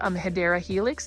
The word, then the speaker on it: Hedera helix: And then you can see right over here, we've got a Hedera Helix, or the correct way to say it is Hedera Helix.